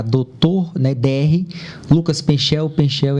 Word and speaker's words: Penchel: Penchel é com C-H-E-L. Ou Penkel, né? Penkel. Mas C-H-E-L. Mais fácil de pronunciar.